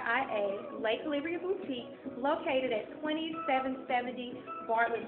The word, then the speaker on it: Le' Calibria: Boulevard and Bartlet Tennessee again it's l calibria it's spelled l e c a l i v r i a lay calibria Boutique located at 2770 Bartlett Boulevard and check